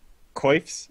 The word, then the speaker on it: coif: It's Coif. coif. I think it's Coif. Coif. A Coif is like how you pronounce the head thing, quaff is how you pronounce the hair thing.